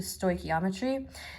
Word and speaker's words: stoichiometry: we're about to learn is called intro to Stoichiometry and then I even tell you how to